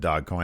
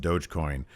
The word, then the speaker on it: Dogecoin: I'm not the person who said Dogcoin. I know it's pronounced Dogecoin. He said Doggy Coin, so I was just paraphrasing what he said.